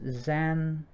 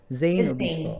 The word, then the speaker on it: Zane: of all the protagonist zan i'm sorry am i correct pronounce this correct zan zane okay okay my mistake zayn